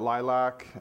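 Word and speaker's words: LLILC: it's in theet org uh we call it Lilac um it's really just a kind of a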